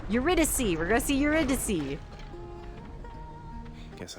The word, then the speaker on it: Eurydice: It's, how do you pronounce her name? It's Eurydice.